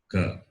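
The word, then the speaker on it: क: So what is the sound you hear when I say Ka? Ik plus A.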